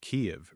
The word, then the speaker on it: Kyiv: It sits alongside Kiev rather than Kiev, and other place name changes that ask English speakers to notice whose language has been treated as standard. The difference is not just pronunciation.